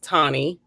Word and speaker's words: Tawny: It's actually pronounced Tawny. Tawny, okay. Like tonic without the C is what I like to say.